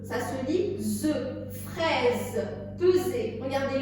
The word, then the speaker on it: peser: Ça se lit ZE, fraise, peser. Regardez, le S, il est entre deux E. Donc, il se lit ZE, peser.